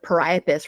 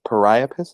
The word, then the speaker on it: Priapus: No, and it makes sense that is it Priapus? Is that how you pronounce it? Priapus, yeah, That Priapus.